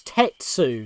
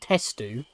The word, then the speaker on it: Tetsu: That was Tetsu, not Testu.